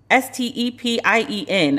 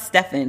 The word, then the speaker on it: Stepien: The list of infected also include Trump campaign manager Bill Stepien, S-T-E-P-I-E-N. I don't know how to pronounce it. It's not Stefan, Stepien.